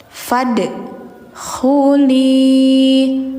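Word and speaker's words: فادخلي: Fad khuli khu khu khu ada kayak suara dengkuran ngorok dikit tapi khu khu khu gitu ya.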